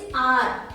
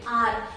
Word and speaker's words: hour: Now H is consonant, but here the pronunciation of this word is R, not hour. We pronounce it R.